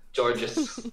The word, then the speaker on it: Djordje: Georges? Yeah. Georges.